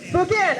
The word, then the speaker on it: Spokane: So after this, I'm headed to Spokane. If someone could tell me how you pronounce it correctly, I would appreciate that so I don't look like a fool. Spokane.